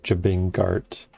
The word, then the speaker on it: Jabingart: It's Jabingart, right? Built off of Jabinga plus art, Jabingart. I pronounce the G.